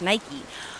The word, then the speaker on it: Nike: But the Greek goddess is Nike.